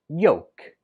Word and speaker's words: yolk: with an L but when we speak it we do not pronounce the L at all it's just pronounced yoke yolk are egg yolks